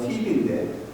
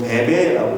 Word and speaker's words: Phoebe: 영어 발음은 Phoebe인데 한국 발음은 베베라고 되어 있고요.